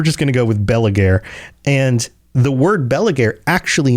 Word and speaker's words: Belegaer: Now, I looked up the pronunciation of Belegaer, and it it's actually something more like Belegael or something like I can't I can't even make those sounds with my mouth.